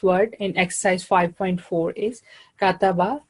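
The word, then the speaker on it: كَتَبَ: So it is just 1 second, ka-ta-ba. So we should try to avoid it when we are practicing. We don't say it like kataba, not in a relaxed manner. Just give equal time to each.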